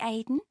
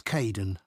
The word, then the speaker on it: Kaeden: Hi, Aidan. It's Caden. I'm so sorry. Oh, don't worry. People often get my name wrong. They never know how to spell it.